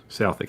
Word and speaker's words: Southwick: I stayed in their officers' mess, which is a building called Southwick House. That's spelled Southwick if you're an ignorant Texan, but they don't pronounce the W because of reasons.